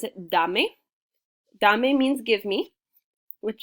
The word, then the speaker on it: dame: yes that's the one with the the key dame dame means give me i know it looks like dame and it is a word in english james but in spanish we would pronounce it dame dame means give me which is i think